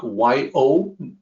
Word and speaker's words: 有: out for is that the romanization for the second character there, it's actually more like Y-O, Y-O-U. We all have this reflexive need to pronounce it as you, but it's actually yo.